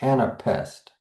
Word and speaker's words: anapest: We can actually hear this in the word anapest because we're ending with that stress.